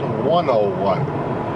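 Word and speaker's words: Wonowon: a little town called 101. Now 101, they spell it W-O-N-O-W-O-N. And it's at mile 101 on the old Alaska Highway. And it is, like the way that the natives spelt that was 101.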